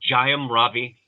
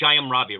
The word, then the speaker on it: Jayam Ravi: Um, I I thought, is the right pronunciation, is it Jayam Ravi? For Ponniyin Selvan. the writer of it, No, no, no. The actor. oh, gotcha. Yes, It's Jayam. it's, it's Jayam Ravi, right?